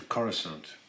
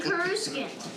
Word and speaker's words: Coruscant: I'm used to saying Coruscant, All right. not Coruscant. Coruscant.